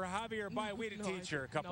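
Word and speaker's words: Javier Báez: So she would say Javier Bays for Javier Baez.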